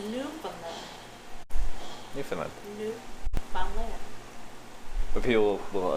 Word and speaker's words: Newfoundland: It's not Newf. It's Newfoundland. Newfoundland. Newfoundland. But people will enunciate it. Newfoundland. No, it's not Newfoundland.